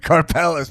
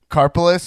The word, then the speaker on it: Karpeles: Karpeles.